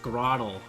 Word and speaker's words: Grotle: It's pronounced Grottle.